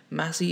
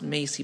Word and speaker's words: Massey: about me brandon massey massey is not pronounced macy by the way you think of mass instead i was born june